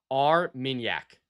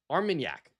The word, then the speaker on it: Armagnac: The pronunciation guide. Armagnac. Armagnac. I think I got it. Armagnac.